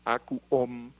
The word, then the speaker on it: AcuOm: homotoxicología, y desarrolló el software AcuOm, así lo pronunciamos, AcuOm, de integración repertorial de homeopatía y acupuntura integradas.